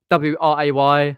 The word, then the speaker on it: Wray: Or you can private message me on or WRAY because the W is silent.